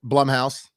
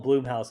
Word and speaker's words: Blumhouse: more hits than misses hey you said it right Blum House Plum House yeah because it's Jason Blum yeah I I think I I don't want to call him Bloom house all the time I think it sounds we all called it Bloom house until we found out the guy owned it name was Jason Blum for real hey Jason